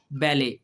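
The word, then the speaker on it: ballet: इसमें भी T silent है। बेले लेकिन यह मैंने इस वजह से किया कि यह लफ्ज मुझे बड़ा इंटरेस्टिंग लगा कि यह फ्रेंच का वर्ड था। फ्रेंच जो है वो टी को साइलेंट कर देते हैं।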